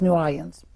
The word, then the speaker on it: New Orleans: pronounce it, but uh the way I pronounce it is basically saying New Orleans very fast. So, it's New Orleans.